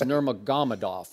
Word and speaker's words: Nurmagomedov: and I'll call him Habib, because I can't pronounce his last name. I think it's Nurmagomedov.